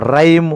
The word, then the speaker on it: rhyme: Rhyme, RHYM, H is a silent.